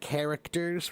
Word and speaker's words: character: a Greek word, and the Greek word was spelled, or it was pronounced with a hard K.